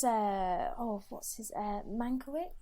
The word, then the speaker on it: Mankiewicz: oh what's his uh mankowitz is that how you say it yes mankovitz yeah and i thought